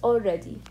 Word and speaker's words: already: Okay, so again it's pronounced already.